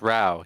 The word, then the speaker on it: row: actually how I've always read that as like row because it's r o w right I believe it's pronounced right yeah it's pronounce Rao yeah that's a row did not know I've